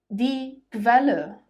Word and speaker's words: Quelle: When the letter U comes after the letter Q, it is pronounced as kv, kv. For example, die Qualität, die Qualitäten, die Qualität, die Qualitäten. Die Quelle, die Quellen, die Quelle, die Quellen.